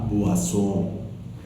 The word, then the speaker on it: boisson: You remember very well, OI is always OA. OA. So, la boisson.